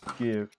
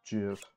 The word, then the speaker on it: GIF: Well, everyone pronounced it as GIF because there's a G at the beginning, but the guy who developed it said it's called GIF.